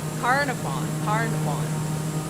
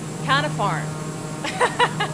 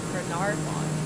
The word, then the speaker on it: Carnarvon: Carnarvon. Canafarm. This is gonna be more emphasis on the nar. Carnarvon.